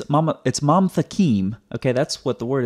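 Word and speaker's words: ממתקים: So it's not mamatakim, it's mamtakim. That's why when you look at the transliteration over here, it's one syllable, mam, not mama.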